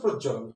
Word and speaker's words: প্রজ্বলন: যদিও উচ্চারণের সময় র ফলার শুরুতে থাকলে যদি কার চিহ্ন না থাকে সেক্ষেত্রে ওকার যুক্ত হয়, প্রজ্বলন। উচ্চারণ হচ্ছে প্রজ্বলন, কিন্তু বানানটা সঠিক হলে হচ্ছে পয়রা ফলা জয় ব ল দন্ত ল, প্রজ্বলন।